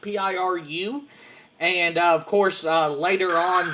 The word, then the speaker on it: Piru: The body had been discovered floating in Lake Peru, I believe is how it's pronounced, Piru.